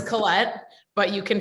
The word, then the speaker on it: Colette: you'll laugh my husband has always called me collette and it wasn't until my brother told him that's not how you say her name i'm just people pronouncing it wrong so it's colette but you can pronounce it however you feel